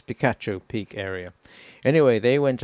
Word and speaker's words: Picacho: area and it's looks like it should be pronounced Pikachu it's not it's Pikachu Pik area anyway they went out for a